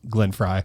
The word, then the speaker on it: Glenn Frey: It's Glenn Fry. It's not Frey.